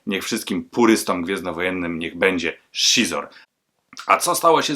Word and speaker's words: Xizor: się imię tego gościa dla mnie to był zawsze xizor czytałem tak jak prawdziwy Polak natomiast nie tak dawno zostałem uświadomiony że czyta się to jako szor zatem niech wszystkim purystę Niech będzie szor A co stało się